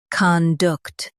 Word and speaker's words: conduct: con duct conduct Stress duct and keep con soft.